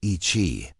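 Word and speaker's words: Yi qi: Yiki, pronounced Ichi.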